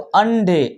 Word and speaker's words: अंडे: उड़ा, उड़ा, घोंसला, घोंसला, अंडे, अंडे। तो ये ना का उच्चारण होगा बच्चों, ये इस तरीके से रखा हुआ है बिंदी। तो ये ना, और ना बोलोगे तो अंडे, अंडे, फूटे, फूटे, किस से,